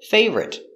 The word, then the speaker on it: favorite: down very good example favorite fave or it three syllables but the r is in the middle so we put it together favorite favorite strawberry is